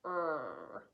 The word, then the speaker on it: heard: This one, the A is silent and the E and the R make a diphthong, a murmured diphthong it's called. Heard.